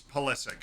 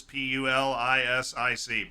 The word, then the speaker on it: Pulisic: completely different way holistic the way Americans speak is very frenetic it's pulisic it's exactly what it says p-u-l-i-s-i-c pulisic no fancy anything we keep it simple